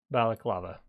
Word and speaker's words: balaclava: Wait, am I pronouncing that right? Yeah, balaclava.